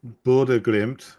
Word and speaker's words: Bodø/Glimt: Oh, you're very close.